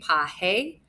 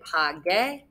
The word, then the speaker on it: pagué: So pagaron, pagamos, pagó, pagaste, pagé. That soft G sound we've got to get rid of. We do that by adding in a G and we get pagué.